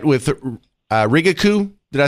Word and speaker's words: Rigaku: Do I have all that right with Rigaku? Did I say that correctly? Rigaku.